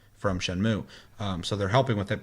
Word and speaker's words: Shenmue: It's Shenmue, but I know everybody calls it Shenmue. But it would technically traditionally be pronounced Shenmue.